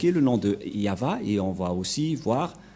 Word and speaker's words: Yahvah: à gauch gauche mais la vraie lecture de ce terme c'est yava je vais vous apprendre